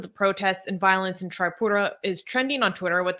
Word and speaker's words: Tripura: Online coverage of the protests and violence in Tripura is trending on Twitter with the hashtag Tripura